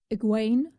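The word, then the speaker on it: Egwene: now cool uh aguain is going to be a little hard for me because it is spelled egg win in the show at least in the captions so my brain sees eggwin gwain gwain okay i'll get it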